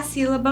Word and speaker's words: sílaba: Vejam bem, a própria palavra sílaba. Sílaba. Última, penúltima, antepenúltima. Nós temos aqui a sílaba tônica e as demais, as sílabas átonas.